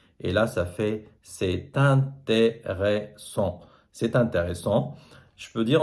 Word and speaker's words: c'est intéressant: Et là, je dois faire ce qu'on appelle la liaison, c'est-à-dire je prononce t. Et là, ça fait c'est intéressant.